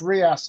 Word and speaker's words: reais: Brazilian Reais, BRS. Real, yes, that's right. Well done. It's pronounced Reais, apparently, my Brazilian friend tells me.